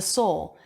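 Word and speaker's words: sole: rock or stone soul this part of the shoe is the soul and it's a homophone with the word s-o-u-l they sound exactly the same okay did you learn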